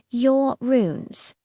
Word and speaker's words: Uranus: First, let's get the pronunciation right. While it can be a source of endless jokes, scientists typically say your runes, it's a fitting name